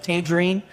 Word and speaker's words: Tangerine: Ours is Bishop Dan Schwerin, rhymes with tangerine.